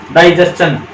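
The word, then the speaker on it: digestion: जैसे क्वेश्चन है ना, इसी तरह से देखो, इसमें भी TION से पहले S है, TION से पहले S है और TION से पहले S है, तो इसको चन बोलेंगे तो ये दोनों भी चन बोले जाएंगे।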